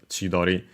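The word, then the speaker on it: 千鳥: Uh so yeah uh it should be still with that but yeah straight up the pronunciation anyway is chidori.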